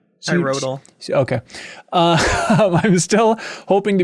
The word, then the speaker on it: Cyrodiil: How do you pronounce the Elder Scrolls 4 thing? Cyrodiil? Cyrodiil.